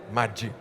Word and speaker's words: Maggi: Domnul Domenico Maggi, am zis bine? I said it right? Maggi.